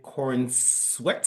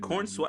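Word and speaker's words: Corenswet: So, Superman, written directed by James Gunn, starring David Cornsweet, I believe is how you say his name. Is it Corn Sweat? I think it's Corn Sweat. Yeah, Cornsweet. Cornsweet.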